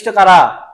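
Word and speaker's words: Chara: কি শৈবালের নামই কারা এই চারা না আবার এটা চারা না কিন্তু এই উচ্চারণ কি হবে কারা হবে কারা ঠিক আছে কারা এ চারা বইলো না কারা বলে বিপদে পড়বা কারা তাইলে এরকম পর্ব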